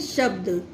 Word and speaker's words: शब्द: तो ये कौन सा, इसको कैसे उच्चारण करेंगे, शब्द। श आधा ब है तो इसलिए ये छोटा हल्का बोला जाएगा, शब्द।